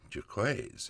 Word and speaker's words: Jaquays: Jquaz as Janelle pronounced it from what I saw in a video where she was talking about her work in uh the gaming worlds of both tabletop and computers.